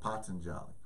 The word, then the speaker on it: Patanjali: the Yoga Sutras of Patanjali or Patanjali I've heard I've heard it pronounced both ways a lot of people most people say Patanjali so the Yoga Sutras